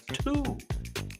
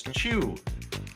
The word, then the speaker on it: Tew: This gentleman's name was Thomas Tew. T-E-W. Thomas Chew. I think you have to say it like you have a speech impediment, and then you got it.